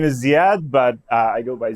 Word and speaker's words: Zeyad: you not on me uh my name is zad but I go by uh but before